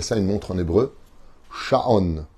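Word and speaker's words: שעון: Sha'on. Sha'on, ça s'écrit Shin, Ain, Vav, Nun.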